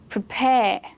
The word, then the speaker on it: prepare: Prepare. That's more natural, isn't it? So a verb, a two-syllable verb, is always stressed on the second syllable.